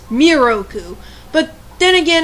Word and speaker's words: Miroku: weeny mistake with moku they have his name pronounced moroku when it's miroku but then again it's